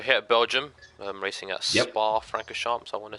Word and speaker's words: Spa-Francorchamps: Of course, we're here at Belgium, racing at Spa-Francorchamps. I want to say that's how you pronounce it.